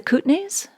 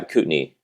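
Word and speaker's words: Kootenay: with food and restaurants do you pronounce it the cutney yeah cutney cutney yeah cutney region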